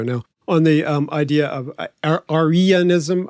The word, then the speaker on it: Arianism: I mean, Mark Walker has written his thesis 25 years ago now on the idea of Arianism. I know I can never say it right. It's not Aryan like Germans, but there's an ancient